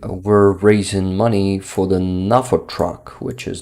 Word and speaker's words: NAFO: it should be pronounced nafo not nefo he's uh himself is a Polish guy uh and he is not using the like English typical English or American version of pronunciation of these letters um so I can